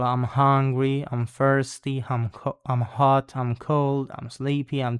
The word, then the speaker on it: ho: in the present simple, it does have this H that is only graphic because you don't need to pronounce it, it's just muted, muta. So instead of saying io ho, we don't say that, we say io ho.